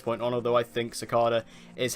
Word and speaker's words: Cicada: TV community and it seems like the official pronunciation of the name is cicada because that's what Todd he'll being said so I'm gonna be calling him cicada from this point on although I think Secada is how I would normally pronounce it I